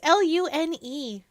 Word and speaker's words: Lune: It's Lune. Moon is still spelled like moon, though. Because loon is French for moon.